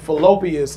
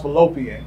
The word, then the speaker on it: fallopian: My nigga said fallopius and it's pronounced fallopian.